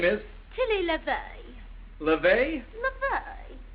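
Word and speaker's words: Levy: LeVay. How do you spell it? LeVay.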